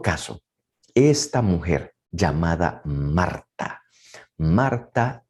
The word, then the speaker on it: Marta: esta mujer llamada marta marta en arameo que a veces se puede pronunciar marcha pero marta así con una t se escribe significa la jefa significa